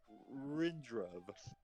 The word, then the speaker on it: Rindrov: The common version of it, it sounds like Rindrov. Rindrav.